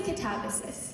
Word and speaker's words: Katabasis: How do you say it? I say catabasis.